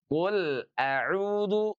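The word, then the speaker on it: قُلْ أَعُوذُ: Huruf lam ini dia tidak boleh diputus. Tidak. Qul au qul au tidak boleh diputus ya. Dia harus mengalir tapi tidak sepenuhnya mengalir. Karena sekali lagi huruf lam itu sifatnya adalah tawasut. Ah gitu ya. Jadi, qul a qul a. Oke. Jadi, ini tawas dan izhar ya. Qul auudu. Sebab kalau diputus, kalau dijeda terkesan bahwa di sana ada hukum saktah.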